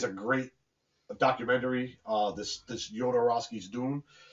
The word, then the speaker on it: Jodorowsky: I think it's Jodorowsky, but it's spelled with a J.